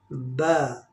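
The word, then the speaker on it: ب: सही correct pronunciation है इसकी अलिफ, और दूसरा लेटर है ब। दोनों लिप्स आपस में मिलाएंगे ब, ब, ये है लिप साउंड लेटर, होंठ वाला ये हर्फ है बा।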